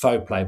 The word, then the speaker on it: Fauxplay: And then, I mean, latterly the Fauxplay moniker is pronounced Fauxplay, by the way, which is a bit of a weird pronunciation.